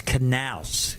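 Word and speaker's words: Knauss: It's Knaus, like canal with a A-U-S-S.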